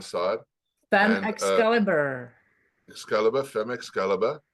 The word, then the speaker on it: Femme Excalibur: Yes, Femme Excalibur. Yes. Femme Excalibur.